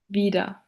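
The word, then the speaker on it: wieder: For instance, the word vida, which translates to the English word for again, is pronounced in the way vida.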